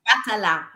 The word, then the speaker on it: Batala: You got Batala. There's an accent on the A.